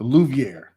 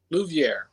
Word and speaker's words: Louviere: i-e-r-e and mine is luviere spelled i-e-r-e just like mr select so louviere luviere luviere correct all right y'all